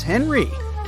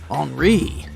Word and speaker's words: Henri: And this is Henry, but it's more correct to pronounce his name as Henri, since he's French.